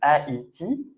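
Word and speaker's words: Haïti: is donc en fait ça permet de ne pas faire le son e d'accord et de faire le son a i. Donc par exemple, ça c'est un pays qu'on prononce Aiti où les gens qui habitent c'est a I sien.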